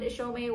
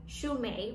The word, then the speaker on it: Chaumet: apologize for that um the correct pronunciation of the brand is actually shumei which is the french pronunciation so thank you so